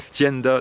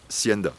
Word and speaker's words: Tienda: dans Zorro, vous savez, c'est la Tienda de l'apiculteur, donc avec un T et pas, ça se prononce pas Sienda, voilà.